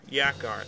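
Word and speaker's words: Yakra: Yakar, that's how you say it.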